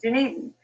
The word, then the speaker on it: Dunedin: Dunedin. It's spelled so differently, that's why it's a little bit tricky there.